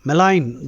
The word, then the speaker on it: malign: Malign, peru paadu cheyadam. Malign, G is silent.